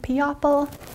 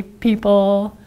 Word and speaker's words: people: gonna start looks like piapal ready looks like piapal e ah pull we say people nice job okay let's